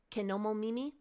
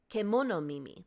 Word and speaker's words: Kemono Mimi: And it kind of fell on somewhere between Kenomo Mimi and, Kemono Mimi. I have to pronounce that right.